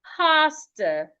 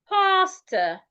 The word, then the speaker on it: pasta: Now this is rightly pronounced pastor, pastor. So do not pronounce the first word like the second word. No, they aren't pronounced the same way.